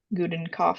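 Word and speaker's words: Gudenkauf: of her last name Gooden cough sounds like a good one I think that's what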